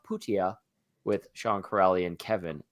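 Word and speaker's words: Pyyhtiä: did mention uh number 82 it looks like Pia but it's mik ptia and I remember reading that on the 28th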